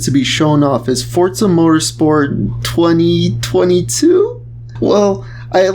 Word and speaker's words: Forza: right off the bat is that it is pronounced forza it's an italian word meaning force power or